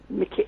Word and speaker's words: MacKay: but she is a Mrs Mackay Mickey that's how Scots pronounced that Mickey would probably be pronounced at MacKay she is Mrs Mackay